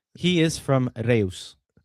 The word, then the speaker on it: Reus: By the way, for the record, that was that is not pronounced Royce. He is from Reus.